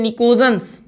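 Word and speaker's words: pnictogens: नाइट्रोजन family का जो nickname होता है, इसी नाइट्रोजन फैमिली का जो निकनेम होता है इसको बोलते हैं निकोजेंस, NICOGENS, और आगे बेटा P साइलेंट होता है।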